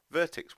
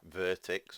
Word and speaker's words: Vertx: Anyway, let's have a look at the Vertex one. So here we go. This is the Vertx, or Vertex, depending on how you want to pronounce it, DA62.